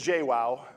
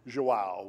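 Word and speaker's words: João: uh so this is jaywow um I I think I think the the appropriate uh uh Brazilian Portuguese pronounced in the Asian is joao which I think is like an equivalent to to John um but uh uh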